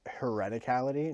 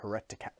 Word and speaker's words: hereticality: He pronounced it wrong. I'm going to guess not. It was hereticality, not heretica.